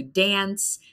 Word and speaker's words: dance: So we hear the an sound. It's an A, so we pronounce it an. Can't dance. But in the UK, some people actually pronounce it like on. So it's not pronounced like it's written. It's pronounced like the word on, like can't and dance. But that depends on the accent. But it's one difference, the A sound.